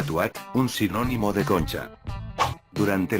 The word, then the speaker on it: TW@: El cibercafé de Liberty City, que también aparece en GTA 3, lleva por nombre TW que en inglés se pronunciaría Tuat, un sinónimo de concha.